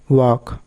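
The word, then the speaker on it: walk: Rule নম্বর 16, এলকে এর আগে ই বা ইউ না থাকলে এলকে এর উচ্চারণ হবে ক, সেক্ষেত্রে এল অনুচ্চারিত থাকে। যেমন টক, ওয়াক, চক, এই টাইপের।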